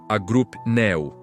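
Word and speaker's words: ἀγρυπνέω: A palavra é agripneu, que se pronuncia agrupneu.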